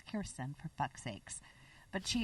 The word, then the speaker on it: Kirsten: I always confuse Kristen and Kirsten. Kristen Vangsness. Mm-hmm. I probably got it wrong because it's Kirsten, for fuck's sakes.